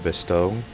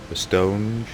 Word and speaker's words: Bastogne: Alright, here we are, guys, on the Battle of Bastogne. I pronounced that wrong. Bastogne.